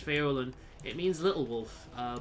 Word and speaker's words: Faolan: give up um i just pronounce this following it's irish irish feolin it means little wolf